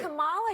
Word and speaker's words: Kamala: actually So pronounce her name and right. Kamala Harris, if I Kamala.